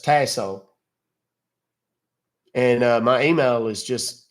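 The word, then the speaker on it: Tasohl: y like Yankee last name is t a s o h l it's pronounced tasso and my email is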